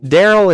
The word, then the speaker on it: Daryl: Daryl is a name that rhymes with barrel.